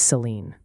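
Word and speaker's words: Saline County: Salina is pronounced Salina and Selen County is Seline.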